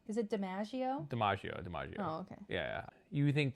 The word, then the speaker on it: DiMaggio: DiMaggio.